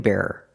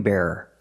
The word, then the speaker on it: bearer: this is a ring bearer the person that brings the ring at the wedding usually a child he's the ring bear not the ring bear but the ring bearer two syllables let's hear some examples